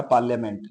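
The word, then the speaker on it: parliament: आई silent होता है तो दो वर्ड ऐसे हैं एक है बिजनेस और दूसरा है पार्लियामेंट जिनम आई साइलेंट होता है आगे देखें कि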